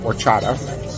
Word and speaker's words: horchata: It's called horchata. It's spelled with an H that you don't pronounce.